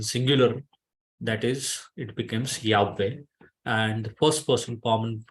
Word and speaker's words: Yahweh: just call it are proper pronunciation of the holy name of our God is Yahweh sorry that you wrote